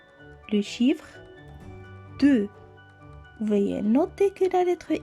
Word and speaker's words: deux: l app est encore fort 1 les chiffres deux voiliers noter que la laiterie x à la fin ne se prononcent pas c'est une lettre millette répéter encore